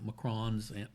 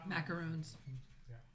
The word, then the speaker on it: macaron: and we're going to have macarons. Is it macarons? Macarons? Macarons? Macaroons. No, they're not macaroons. Macaron. Yeah. What's the French pronunciation? I think it's macarons.